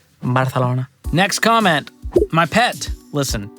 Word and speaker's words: Barcelona: Barcelona you should be saying it correctly it's Barcelona Barcelona next comment my pet listen you know how